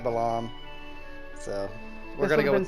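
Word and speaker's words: Balamb: this would have been how do you say Balam do you say belong how do I have always said belong yeah I say belong to I've heard people say like Balam it kind of depends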